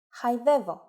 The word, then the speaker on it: χαϊδεύω: If the letters of a two-vowel combination must be pronounced separately, but none of them gets the accent, then we need to use a special mark I mentioned before. For example, χαϊδεύω, meaning to caress.